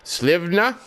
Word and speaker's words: Slivna: And there also was the release of the PGR Slivna, that's the way I've been told that it is pronounced, from a Polish person.